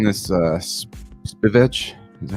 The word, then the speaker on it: Spivak: Yeah, and they're actually saying this Spivak. Is that how you say his name? Spivak. Spivak. Yeah, they call him Sergey Spivak. Sergey Spivak. It sounds like HVAC.